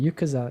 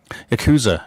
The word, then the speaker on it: Yakuza: one of the characters that are in the yukata yakuza series yakuza isn't it there we go um getting how to pronounce this word so the first one came